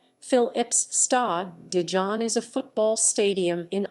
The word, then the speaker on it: Philips Stadion: stadion the phillips stadium dutch pronunciation phil ips star dijon is a football stadium